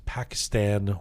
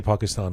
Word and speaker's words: Pakistan: Did you realize that you rhymed Pakistan with Iran?